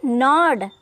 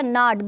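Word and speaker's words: gnawed: डी यह हो गया नॉड नोड नहीं पढ़ेंगे नॉड इसको पढ़ेंगे जी एन ए डब्लू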